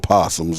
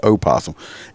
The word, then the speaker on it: opossum: see they use roadkill possums okay if you don't know what a possum is go look it it's it's spelled opossum but it's we call them possums but it's oh possum it's it's like a